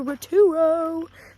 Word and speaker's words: Rotorua: And tomorrow we're off to Rotorua.